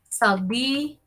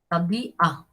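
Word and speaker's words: صديقة: Sadiqa. Sadiqa. Sadiqa se pronuncia y se escribe en árabe.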